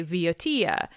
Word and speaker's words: Boeotia: they call it evia and Boeotia which is how I understand to pronounce it - but I don't know again if I m right - they say Veotia so you're getting these